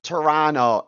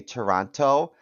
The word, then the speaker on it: Toronto: So, Steve from Toronto. Now, I learned in my time in Canada that they know that we're not locals when we pronounce the second T. So when you say Toronto, they know you're not local because they say Toronto.